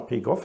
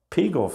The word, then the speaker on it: Pegow: wird da, glaube ich, da ist die Betonung anders. Ich dachte mal Pegow, aber Pegow sagen die. Das kann beides sein.